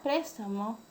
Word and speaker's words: préstamo: En la palabra préstamo, la sílaba tónica es pres y tiene tilde.